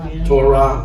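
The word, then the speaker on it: תּוֹרָה: To ra. To ra. Which we pronounce as to ra.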